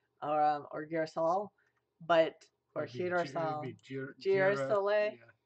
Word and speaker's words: girasole: Girasole. You don't have a J in Italian, but a G sounds like a J.